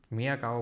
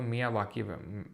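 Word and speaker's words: Miyawaki: मियाकावा बोलो। मियावाकी मियावाकी method बोलते हैं उसको।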